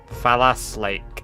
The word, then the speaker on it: Fallas Lake: It's the name of an in-game location, quite literally, but it's spelled with an F. Fallas Lake.